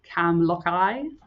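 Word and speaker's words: Camlachie: Um, but I I believe that it's Cam Loey, um, which translates as winding dark water, which I really liked.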